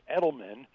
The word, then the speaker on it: Edelman: first of all my last name is Edelman uh just like Julian Edelman the most valuable player of the Super Bowl and uh Patriots uh